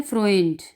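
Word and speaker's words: Freund: आगे इसकी मिसाल है फ्रोइंड, फ्रोंडियन, ओडा, फ्रोइंड। ठीक है, AU की आवाज़ निकलेगी फ्रोइंड, AU है, ओए है, फ्रोइंड, नोए, फ्रोइंडियन।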